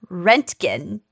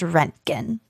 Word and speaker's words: Röntgen: When a German engineer and physicist named Wilhelm Conrad Röntgen, there's an umlaut over the O, so I think it's pronounced Röntgen, Okay.